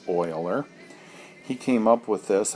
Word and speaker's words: Euler: That is a symbol that Euler, and his name is spelled like this, and pronounced Euler.